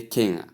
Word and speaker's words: king: the time is king there is no g in the pronunciation please and it is not n it's at the ending so you say king our next slide number